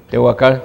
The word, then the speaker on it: Tehuacán: que tenemos que darlos desde Tehuacán así se pronuncia Tehuacán Tehuacán El hermano uciel Saludos al hermano Benjamín